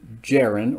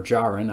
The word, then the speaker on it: Djarin: forth the mandalorian himself here is den jarrin or jaron i've heard it pronounced both ways well here's den based